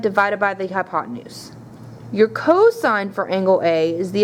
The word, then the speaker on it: cosine: Cosine is represented by just C-O-S, A being your angle. Even though you see just C-O-S, it is cosine, not cos.